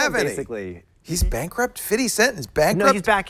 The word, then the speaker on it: 50 Cent: It's pronounced 50 cents.